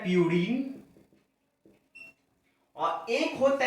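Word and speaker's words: purine: यूरिन नहीं, प्यूरिन।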